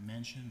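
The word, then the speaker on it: Menchen: would uh good evening my name is John mention that's spelled m-e-n-c-h-e-n I plane um I've only lived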